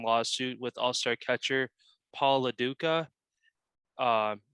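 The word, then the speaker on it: Lo Duca: with all-star catcher paul laduka um ducha i'm not sure how you say that last you said it right the first time paula duka duka okay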